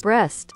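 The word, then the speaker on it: Brest: Breast. Oh, I feared that. That's not okay. I was really hoping that it wasn't that pronunciation, but Breast. Here we are.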